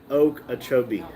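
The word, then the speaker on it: Okeechobee: Uh, Florida said locals say oak achobee.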